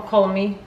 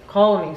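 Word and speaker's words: Calm Me: I tak, tu mamy taką Colmy. Colmy. Hania mnie wczoraj uczyła wypowiadać. Colmy. Zuzia, pomóż mi. Colmy. Ona mówiła, że tego L się nie wymawia.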